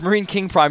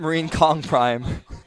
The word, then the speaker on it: MarineKing: in the game it's not Marine King Prime it's Marine it's Marine King Prime not Marine Kong Prime I don't know what